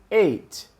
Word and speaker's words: ate: Eu falo ate. Bem, a pronúncia do número 8, ate, ok?